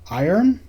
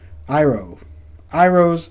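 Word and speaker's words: Iroh: I-R-O-H. Iron? No, there's no N, right? Iro's Demonstration.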